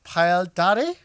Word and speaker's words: Payal Dhare: Hello, Payal Dhare.